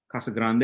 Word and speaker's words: Casa Grande: city called Casa Grande Casa Grande is really the right way to say it um it's about 45